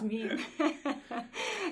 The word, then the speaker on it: meme: First, I'll say I always wanted to mispronounce it because I have a French background, so I always wanted to say meme, but it's not meme, it's meme.